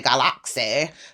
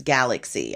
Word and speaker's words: Galaksy: Yes, and of course, someone would love to pronounce it and say Galaxy, but it's not. It's Galaxy.